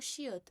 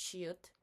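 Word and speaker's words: 치읓: E nós temos o chiut. O chiut, ele ali vai chiar mais do que o normal com as vogais derivadas do I.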